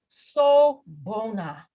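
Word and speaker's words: sawubona: okay here we go this is a zulu term and it's pronounced so bona sobona so bono means welcome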